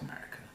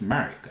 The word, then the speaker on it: America: Also the country, the United States of America, is often called America. The United States of America. How do you say this? America. America. America. America. Not America. The country is called the United States of America.